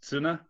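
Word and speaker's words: ツナ: Actually, Piotr, sand is suna, which sounds like tuna, which is pronounced tsuna.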